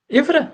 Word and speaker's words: Ivra: And how do you pronounce it? Ivra? Is that right? Ivra, yes.